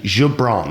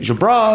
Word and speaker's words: Goubran: um by the way everybody gets my name wrong so it's actually jabran if you want to get right like how my mom would say it Jabron so in the course